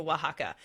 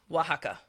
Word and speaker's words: Oaxaca: I highly recommend going to Oaxaca. It's spelt a little bit different. It's spelt Oaxaca, Oaxaca.